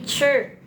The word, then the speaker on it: zhi: Nah nih ZHI bukan dibacanya Z ya, tapi cer gitu ya, cer ya.